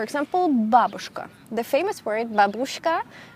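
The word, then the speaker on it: бабушка: babushka the famous worried babushka actually has to be pronounced as babushka and is this letter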